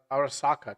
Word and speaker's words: Arasaka: But I remember them talking about I thought it was Asaka. I thought I was saying that. Is it Arosaka? A Arasaka Tower. Yeah, that's how how you pronounced it.